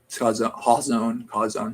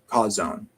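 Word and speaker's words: חזון: Chazon, same thing.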